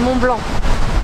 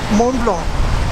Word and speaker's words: Mont Blanc: It's Mont Blanc. And you're standing outside Mont Blanc. Mont Blanc. Mont Blanc. And you don't have to pronounce the T in that.